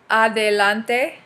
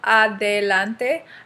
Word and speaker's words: Adelante: I'll first say it like the anglicized way and then I'll say it, you know, the Spanish way. It's called Adelante. Okay. The book is called Adelante. Adelante Uno Unoidos.